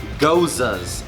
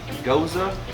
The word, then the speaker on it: Gose: Let's go ahead and start off with the pronunciation, which would be GOSE. Rhymes GOSE. with Rosa. Just put a G in there.